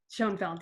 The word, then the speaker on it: Schoenfeld: Schoenfeld, yes.